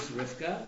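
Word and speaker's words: רבקה: later we have Rebecca and the Hebrew is Rifka right should I be reading the Hebrew pronunciation or the what it says in the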